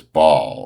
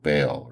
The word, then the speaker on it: Baal: of this town is Bal or, you know, Baal or Bal, however you want to pronounce it.